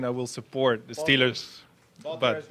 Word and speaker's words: Wouter: Wouter.